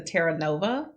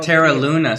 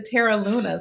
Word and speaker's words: Terra Luna: So we stayed when we went this time, we stayed at the Teranova. So we'll actually have Terra Luna. See, you said it wrong.